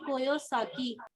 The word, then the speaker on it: Kiyosaki: Kiyosaki. Robert T. Kiyosaki. Okay, pronunciation is bit a difference.